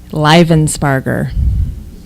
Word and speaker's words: Livensparger: Livensparger. Do you mean to spell it?